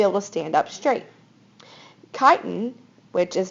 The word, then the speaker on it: chitin: Chitin, which is not, it's pronounced, the CHITIN word is pronounced chitin, makes up the cell wall of fungus.